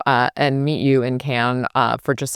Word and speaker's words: Cannes: It is not con for everybody trying to be pretentious. It is can.